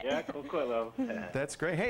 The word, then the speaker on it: Coquitlam: Coquitlam. All right. Yeah, Coquitlam.